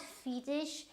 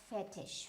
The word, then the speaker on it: fetish: So again, this is not fetish, it is fetish, fetish. So this E sound will always come as a fetish, right? This is a French word, and this means kind